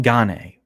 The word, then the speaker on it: Gane: on cyril ghane gain is cyril gane the correct pronunciation dan like we call him ghane it's french yeah there we go